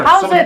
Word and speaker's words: howzit: Or how's it, my bro? Or, you know, something like that. How's it's another one. There you guys go. How's it?